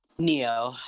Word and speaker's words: Nioh: soul suspect neo nioh is that how that's pronounced neo yes yeah okay i'm not playing out last